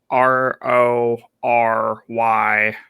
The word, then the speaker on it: Rory: know right mentality uh r o y or sorry r o r y mccain how do you pronounce that rory rory yeah um and i'm just